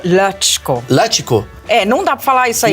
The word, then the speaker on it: Lacsko: Aqui, Madalene Laxo. Laxo. É Lasco, fala. Lasco? Puta, caguei tudo. Não, porque é impronunciável. É húngaro? É húngaro. Aí. É Latchko.